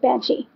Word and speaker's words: banshee: that right it's just Banshee you don't pronounce half of that word so that's my bad